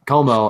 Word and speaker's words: Comeau: Comeau? Como. Yeah, it's Como. I always do that because his name ends in U, but it's Como and Soderberg.